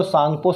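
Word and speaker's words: Tsangpo: सांगपो बताया था, T silent होता है इसलिए सांगपो कहते, तो इंडो सांगपो सचर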